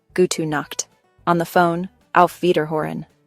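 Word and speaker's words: Gute Nacht: Pronunciation gut knocked.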